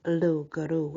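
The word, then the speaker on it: loup-garou: Guru and it is low Guru if you study the French language and I have you do not pronounce the end bit that's why I think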